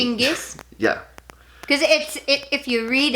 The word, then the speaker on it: Chinggis: Gengis? Chinggis, I didn't say. Chinggis?